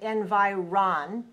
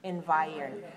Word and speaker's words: environ: eyes to tell us, it looks like we might say environ, but we don't want to say it that way. I want to say environ. So here, the syllable, the third syllable, doesn't sound like ron, it sounds like earn.